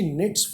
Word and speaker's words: knit: कोई भी वर्ड अगर के और एन से स्टार्ट होता है तो उसमें फर्स्ट लेटर के साइलेंट रहता है। जैसे नो बोलते हैं हम, KNOW, तो के साइलेंट, नेट्स बुनना, स्वेटर बुनना जैसे।